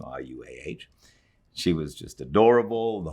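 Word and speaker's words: Ruah: name is danny or daniela rua i think is how you pronounce the name rua she was just adorable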